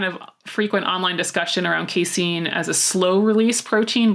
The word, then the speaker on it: casein: I'd always heard casein is how do you pronounce it Casey Jason casein casein yeah casein protein is your quote unquote sleepy